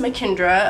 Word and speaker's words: Makindra: If you don't already know me, my name is pronounced Mackendra. A lot of people have a lot of questions on how to pronounce my name and if they're pronouncing it right. It's kind of straightforward, but a lot of people get it wrong. So my mama gets pissed off when people say Mackendra, so it's Mackendra.